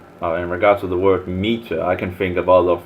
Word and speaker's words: Meta: Meta. To be precise, meta is pronounced like the feminine form of the Hebrew word.